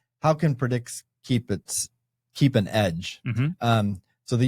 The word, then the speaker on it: Predyx: But what led me to learn about that was that there's a Bitcoin focused one called, I think it's pronounced Predyx. Yeah. Oh, yeah. Predyx.